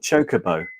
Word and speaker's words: chocobo: Even though they're all set to what I like to call Mako green or macco as they pronounce it now apparently. Yeah, both macco and chocobo instead of chocoo. I know weird. It's wrong.